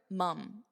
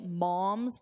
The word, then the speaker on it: mum: But here, mum, It's more of an unstressed mum. Mum's the word. So don't say mom's the word.